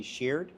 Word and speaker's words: Sheard: I'm with Nicki Sheard, rhymes with weird.